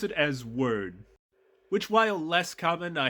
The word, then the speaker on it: Wyrd: to note is that most people are going to be used to hearing that word that's part of the suffix pronounced as weird as in Hellboy web